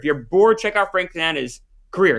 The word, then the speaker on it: Tanana: If you're bored, check out Frank Tanana's career. It's remarkable. Is it spelled like banana with a T?